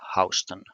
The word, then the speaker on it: Houston: Now, Soho is not a place near Houston, but it is a place near Houston. Houston Street is what this HO is referring to in New York. So, spelled the same, but pronounced differently.